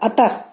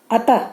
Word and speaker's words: अतः: और विसर्ग स्वर के बाद यह भी आता है, और इसका उच्चारण ह की तरह होता है। अतः, अतः जैसे हम लोग बोलते